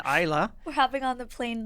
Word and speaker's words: Islay: Pronunciation, Islay.